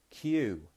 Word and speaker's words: queue: which is the word queue. If you want to get in the queue, do you know how to spell that? Queue. It sounds like the letter Q, but if you get